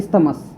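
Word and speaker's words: isthmus: इसे स्तमस भी कहा जाता है। क्या कहा जाता है? स्तमस। इस्तमस की स्पेलिंग क्या होगी?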